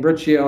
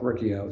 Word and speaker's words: Riccio: Yeah, very much 100% Italian, half Napolitan, half Calabrese, the kitchen of Italy, and pronounced my name Riccio after many years of calling myself Riccio.